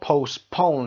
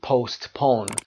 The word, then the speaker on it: postpone: میتونن interchangeably استفاده بشن اما postpone استرس در قسمت آخر و تی هم silent letter هست تلفظ نمیشه. نیاز نیست بگید postpone و این رو postpone میخونیم. استرس روی پو دوم قرار میدیم.